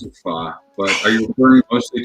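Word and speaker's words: phở: I used to pronounce it pho. Now I pronounce it pho.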